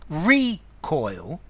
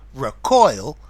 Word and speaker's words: recoil: Notice the recoil, stress on the first syllable. To recoil, stress on the second syllable.